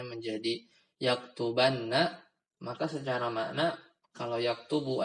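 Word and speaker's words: يَكْتُبَنَّ: dari sisi harakat juga sedikit berubah aslinya yaktubu tapi ketika dimasukkan Nun Inas maka dia jadi di yaktubanna dibacanya yaktubanna dan kalau kemasukan misal kita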